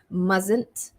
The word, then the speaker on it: mustn't: m-u-s-t-n apostrophe t mustn't so this is a difficult one mustn't you mustn't tell this to anyone it's a secret you mustn't you mustn't excuse me mustn't so that's a difficult one even for me so you can practice along with me mustn't mustn't okay number